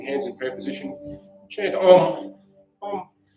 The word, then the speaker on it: Om: Chant Om. Om. It's spelled A-U-M. Chanted as O-M, Om.